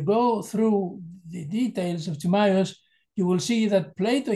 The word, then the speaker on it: Timaeus: And even Plato, as an idealist, in Timaeus, am I pronouncing correctly, Timaeus in English?